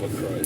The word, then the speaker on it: LaCroix: It's not LaCroix. It's LaCroix. Yeah, that's how you say it if you're like a douchebag or something. How do you say it? LaCroix. LaCroix. Yeah. That's Why do you get LaCroix out of that? Because that's It's the just so OIX. random. It's French.